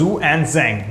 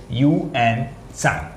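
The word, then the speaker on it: Xuanzang: The original name was Zhu Anzang, but we could not pronounce it Zhu Anzang, so our Indian people said Yuan Sang.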